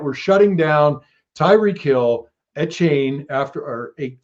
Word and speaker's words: Etienne: this feeling that we're shutting down Tyreek Hill, Etienne Etienne.